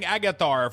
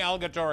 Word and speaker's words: Algatar: I've been saying Agatar for like since dragon flight. that It's remaining Algatar Academy forever.